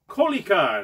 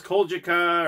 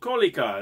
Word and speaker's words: Kolejka: Now, that's the pronunciation for the game. I thought it was Kolejka or some other name, but then I saw some people say, no, it's called Kolejka, that were from Poland.